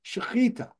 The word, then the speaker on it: shechita: In Hebrew, if you see a translated word, transliterated word with a ch in it, it's pronounced ch, like the German Bach. It's a guttural, like you're gargling.